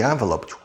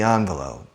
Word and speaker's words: envelope: okay loose envelope envelope there are two pronunciations me personally I think I say envelope but many people maybe the majority of the people say envelope I can't send a letter without an envelope I can't send a letter without an envelope you decide which pronunciation you prefer and use it okay but there's something